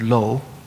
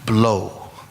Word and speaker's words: blo: Usually Lorik means lo, the Tibetan word lo, has a silent B before it. So if you see it written out in transliteration, you might say it should be blow, B-L-O.